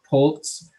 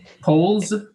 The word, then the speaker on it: Polz: our guest of pultz welcome aboard thank you thank you for having me you pronounced your name wrong alex well shut we'll try again now is it perfect it's fine polls okay that's fine i